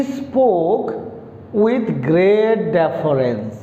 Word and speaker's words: deference: The next word is डेफरेंस, नॉट डिफरेंस। DI नाही, भल कि देखंतु कौन अच्छी DI नाही, DE अच्छी। तो कौन वर्डटा DEFERENCE, डेफरेंस। प्रोनाउंस केंती हेबो डेफरेंस।